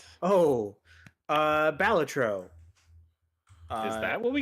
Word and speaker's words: Balatro: the switch apparently oh uh batro uh is that what we call it that's how it's pronounced that is I I had the chance